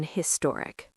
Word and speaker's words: historic: But in modern English, especially American English, we pronounce the H in historic.